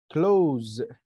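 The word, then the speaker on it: close: كلوز يا شهد كلوز. سي كلا لا يبقى حرف ايه؟ ال كلوز ايوه او او كلوز ز. اس اس بس بتتنطق زي وبعدين اي ما بتتنطقش.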